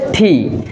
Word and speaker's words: T: তারপরে যে লেটারটি আছে সেটা হচ্ছে থি, আমরা বাংলাদেশে এটাকে উচ্চারণ করে থাকি টি, বাট সঠিক যে প্রনাউন্সিয়েশন সেটা হচ্ছে ঠি। আর অর্থাৎ আপনাকে টি কে উচ্চারণ করতে হবে কিভাবে, সঠিকভাবে যদি আপনি উচ্চারণ করতে চান তাহলে উচ্চারণ করতে হবে ঠি ঠি।